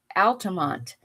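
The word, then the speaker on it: Altamonte: And there's a place in Florida called Altoont, but it's spelled A L T A M O N T E.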